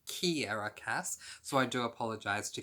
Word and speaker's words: Kiera Cass: in my April TBR I referred to as Sierra Cass, but it is actually pronounced Kiera Cass, so I do apologise to Kiera on that one.